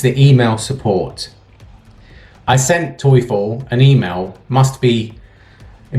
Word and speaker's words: Teufel: as well i've heard people call it a turf or tiffany or something like that but really it's pronounced toyful in german toyful and yo my friend are